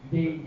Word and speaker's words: 유대인: 그래서 이스라엘 백성을 유다인 하다가 그게 이제 발음 법칙에서 유대인 이렇게 된 겁니다. 원래 유다인.